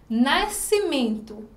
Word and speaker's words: nascimento: Nascimento tem 10 letras e 8 fonemas, porque a gente não pronuncia o S e o EN ele também tem um único som.